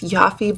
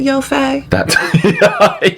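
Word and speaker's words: Yoffe: like she's got she looks almost like it's yaffy but she pronounces it yofei yes and I'm okay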